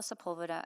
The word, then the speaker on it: Sepulveda: My name is Sepulveda, and I'm here today as a local business